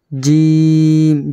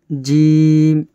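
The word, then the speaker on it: جيم: বা, জিম, জিমের উচ্চারণ কেমন, জিভের মধ্যখান উপরের তালু।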